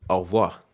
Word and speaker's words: au revoir: The proper version would be au revoir. Au revoir. So like au revoir. But au revoir. Like au. Au. Re. You're gonna. you're gonna have to learn how to say the R.